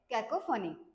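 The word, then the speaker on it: cacophony: पी एच ओ एन वाय तर याच pro pronunciation कस आहे कॅकोफनी तर याच मिनिंग काय आहे हार्श मिक्सचर ऑफ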